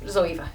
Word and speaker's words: Zoeva: But the girl who actually um runs it or one of the girls who runs it um left me a message to say that it's Zoea.